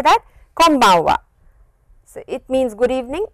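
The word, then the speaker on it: こんばんは: it is pronounced is, press your lips like this, close your lips and it is an M sound.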